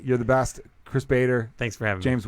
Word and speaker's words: Chris Bader: Instagram at CHRISBADER at Chris Bader. It's pronounced and spelled the same.